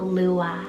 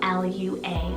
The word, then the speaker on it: Lua: a wonderful alternative then i have the name lua spell l u a lua this one always gives this dreamy sound